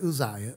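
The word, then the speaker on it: Uzziah: men and they withstood luzia some people pronounce it Isaiah Isaiah they withstood the king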